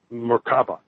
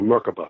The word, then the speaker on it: Merkaba: And then right after that, I saw the word Merkaba, or Merkaba, it's sometimes pronounced, which is a practice utilizing the sacred geometry that's around the body.